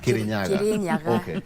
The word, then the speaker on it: Kirinyaga: I have to Is it Kiryaga? How do you pronounce it well? Kirinaga Kirinyaga like that.